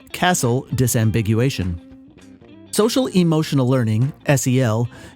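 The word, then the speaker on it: CASEL: and emotional learning c-a-s-e-l i guess i'll pronounce that castle from now on history sel began in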